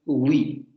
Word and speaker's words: oui: Por eso en francés escuchamos esta pronunciación oui, con ese fonema inicial excesivamente marcado. Oui. Vamos a algo así, aunque recuerden que no es una G porque hay que redondear los labios, y tampoco la parte posterior de la lengua se acerca tanto al velo como para producir una